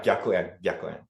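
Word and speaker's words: gyakuen: I still want to possibly talk about the Gyakuyen, right? I'm sure I'm not pronouncing that yes, right. That's good. Yeah, Gyakuyen.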